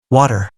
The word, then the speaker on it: water: When t comes between two vowels, Americans pronounce it like a d. Water.